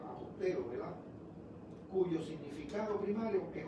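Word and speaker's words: ἀποστέλλω: Esta palabra se deriva del verbo apostelo, pronúnciese apostelo, ¿verdad?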